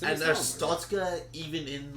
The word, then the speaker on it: Arstotzka: Yeah, it's a And misnomer, Arstotzka, even in like with Russian pronunciation, still sounds like big, threatening, oppressive, which this is supposed to be. Yeah. Arstotzka has a punch in the middle. It's powerful.